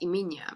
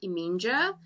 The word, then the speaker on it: Eminje: that I was writing, my main character's name is Eminia, and it's spelled Eminje. And so, well, naturally, because I'm Afrikaans as well, then that's the way that we pronounce it, and that's the way that we can read it. Whereas someone who is English would be like Eminja, and I'm like, nope, but you're close.